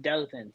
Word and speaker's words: Dothan: It's pronounced Dothan.